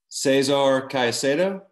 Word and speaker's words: Cesar Caicedo: language spanish so sorry the r pronunciation that there is at the end of the name is very strong and then when you have two c's are in the same word they both sounds like c like i said the